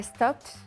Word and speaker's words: stopped: i stop yesterday i stopped yeah and lately i've stopped good we have that t sound at the end every day i stop